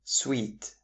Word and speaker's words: suite: Suit and sweet. Both of them are nouns, but they can be easily confused.